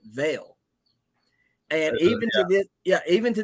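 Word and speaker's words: Vial: is Val right well if you look at it it's vile v-i-a-l but he pronounces it Veil and even yeah even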